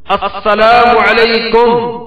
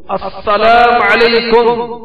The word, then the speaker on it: السلام علیکم: سلام اور جواب سلام کا درست تلفظ یاد فرما لیجیے. پہلے میں کہتا ہوں، آپ سن کر دہرائیے. السلام علیکم، السلام علیکم، اور بات یہ السلام علیکم.